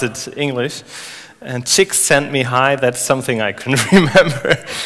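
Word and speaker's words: Csikszentmihalyi: writes that he's pronounced uh Mii and then chicks sent me high so if if you pronounce it English and chicks sent me high that's something I can remember okay so he's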